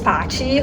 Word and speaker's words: Paty: little better yeah uh well my name is Pachi who was my pronounce Shar and I was actually born and